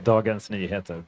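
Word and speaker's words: Dagens Nyheter: Darens Niha.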